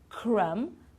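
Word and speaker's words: crumb: of these words climb we don't pronounce the b at the end crum lam and num okay so no b at the end we don't sound it at all okay now tricky consonants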